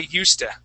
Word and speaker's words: used to: word okay and so instead of saying used to we actually say USTA okay I thought it